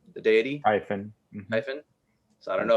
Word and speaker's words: Typhon: like it's it's Typhon and yes that's that's how you say his name the deity Typhen Typhen so I don't know if that counts